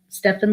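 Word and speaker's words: Stephen: and it's spelled it's steph like stefan stefan levine healing into life and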